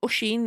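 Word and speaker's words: Oisín: Is it Oisin? Is that how you pronounce it?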